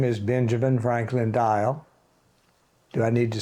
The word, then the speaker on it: Dyal: for us my full name is Benjamin Franklin dial do I need to spell it b n j a m i n